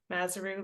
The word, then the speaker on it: Mazaru: It's Mazaru, like kangaroo.